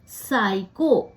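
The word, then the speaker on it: psycho: जैसे कि फोन और अगर पी के बाद एस हो एन हो या टी हो तो भी पी जो है साइलेंट हो जाता है उसकी ध्वनि नहीं सुनाई देती है जैसे साइको पी एस वा सी एओ तो पी के बाद एस है तो हमें पी नहीं सुनाई दे रहा य साइको स से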